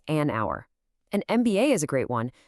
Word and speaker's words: MBA: An MBA is a great one. You say the letters right. MBA. That first sound m starts with a vowel sound.